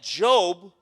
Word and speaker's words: Job: is job right job it's spelled like j-o-b like what like job but it's not job it's job right you could pull